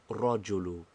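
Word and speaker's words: الرجل: The lamb of al if lamb assimilates itself. first of all to the raw and then secondly we think of it and pronounce it as rojulu.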